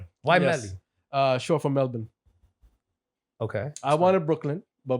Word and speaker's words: Melbourne: I used to always pronounce it Melbourne until I went there. I was like, yo, shut the hell up. He was It's corrected. Melbourne. It's Melbourne. Exactly.